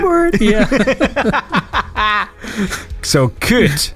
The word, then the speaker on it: kut: of words or swear words that start with kut. That means cunt. I would never have guessed. Really? Wait, so how do you say it? Say it again? Kut. Kurt.